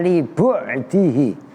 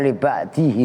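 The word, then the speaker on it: لبعده: Alasannya li bu'dihi harokatin. Ntar lu bacanya li ba'dihi lagi. Li bu'dihi.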